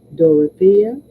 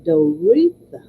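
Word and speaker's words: Doreetha: one faculty member said Doria no no no I'm pronouncing her name wrong just because it is spelled differently it's dor please excuse me d o r e e t h a dtha i was reading an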